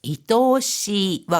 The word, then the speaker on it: 愛おしい: 사랑 애자는 애처라고 할 때 愛妻、 연애, 恋愛、 이렇게 아이라고 읽히고 또는 사랑스럽다거나 또 가련하다, 또 가엾다 이런 뜻일 때는 愛おしい。 이토시와 같이 읽어줍니다.